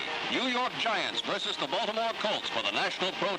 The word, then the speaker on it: Baltimore: People would mispronounce the name, Baltimore, Balmer.